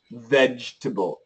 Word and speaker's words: vegetable: So the pronunciation is ve vegetable. Vegetable. But I just told you when we have vibration and then a T, it's not easy. This T and vegetable, we need that T.